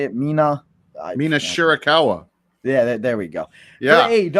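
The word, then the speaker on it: Shirakawa: We got Timeless Tony Storm taking on Mina I I always say her last name wrong. How do you say it? Mina Mina Shurikawa.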